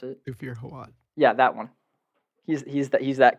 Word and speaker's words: Thufir Hawat: Through how do I pronounce it? Thufir Hawat.